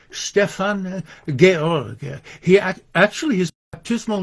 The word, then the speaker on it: Stefan George: uh this his the name of this poet uh written in English looks like Stefan George but it's pronounced Stefan Gorg he actually his baptismal name was uh George